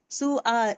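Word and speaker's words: سؤال: कुर्सी बनता है और कुर्सी for Hamza we डू not pronounce wow. हम वाओ नहीं पढ़े। सु ये देखिए सु आल यहां पे सु आल पढ़ते हैं। वाओ नहीं पढ़ रहे हम लोग। सिर्फ हमजा फतह आ सु आल।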